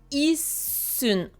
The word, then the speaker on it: いっすん: Je vous rappelle, hein, le petit tsu, il vient doubler la consonne qui est juste après. Un petit peu comme si on avait du mal à la prononcer, on bute un peu dessus. i-ssun. Donc là c'est un i, petit su, su, un. Issun. Comme si le su, il voulait pas sortir de notre bouche.